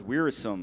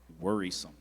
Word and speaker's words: wearisome: Zoe, your word is wearisome. It could also be pronounced wearisome or worrisome. I'm sorry, that last pronunciation was not correct. It is wearisome or wearisome.